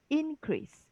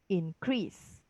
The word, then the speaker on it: increase: So in this case, this is a noun, so it's increase. Whereas here is a verb, increase, right?